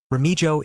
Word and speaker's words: Remojo: Authors note: Remojo is pronounced as Remo.